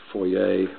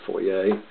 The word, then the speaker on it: foyer: house on stonem way I know it's supposed to be pronounced foyer but I don't speak French so I'm going to refuse to say foyer anyway this is what